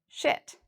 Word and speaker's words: shit: We have a short I here, so notice my mouth is very relaxed when I say this word, and I say it really quickly, shit.